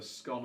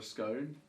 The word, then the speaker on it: scone: sweet bun called a scone or a scone. Nobody knows. So how do you pronounce it? Scone that rhymes with gone, scone that rhymes with cone.